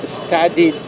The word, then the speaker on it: studied: So sometimes this you pronounce like D, sometimes like T, and sometimes id, like studied.